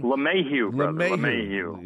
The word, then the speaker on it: LeMahieu: LeMahieu.